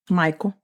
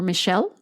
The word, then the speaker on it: Michel: what so Michael Wetzel I think this is how you say his name because he doesn't have an A in there it's m i c h e l Michael or Michelle no I don't think it's Michelle Michael Michael W Mr